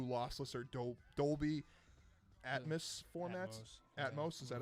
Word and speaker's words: Atmos: Atmos, is that how you pronounce it?